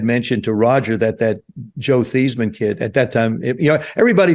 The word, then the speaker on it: Theismann: It was Roger Valdesari was our public relations director, and my freshman year, somebody had mentioned to Roger that Joe Theismann kid at that time, everybody from Jersey's Joey, Bobby, Tommy, all our first names end in Y.